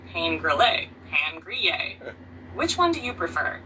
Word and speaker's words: pain grillé: Toasted bread, they might also say pain grillé, pan grillé. Which one do you prefer? The most steal. For the rest of this conversation, call me, what do you say, pan grillé?